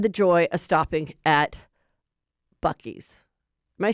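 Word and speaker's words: Buc-ee's: So on our way in the Uber, we had the joy of stopping at Bucky's.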